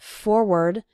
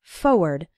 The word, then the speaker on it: forward: Now, some people pronounce it forward, and some people pronounce it more like forward. But when you're writing it, you need to include the R, F-O-R-W-A-R-D. Again, when speaking fast, we sometimes say it like forward, as if there wasn't that first R, but you need to write it with both R's.